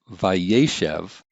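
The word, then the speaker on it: וַיֵּשֶׁב: a vive consecutive imperfect normally we would see ye shave like this with two series but since the accent's been shifted to the right it's vaishev then this final syllable loses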